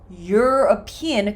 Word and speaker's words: European: In this case, it's more of a Y consonant sound. So we say a used car. A European country.